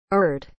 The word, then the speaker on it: Urd: of fate a giantess who personified the past erd is spelled u r d erd you